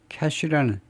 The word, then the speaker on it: cache: Cached Google result, 이 cached는 cache라는 cache 이거요. 발음으로만 보면 이제 우리말의 캐시하고 똑같습니다.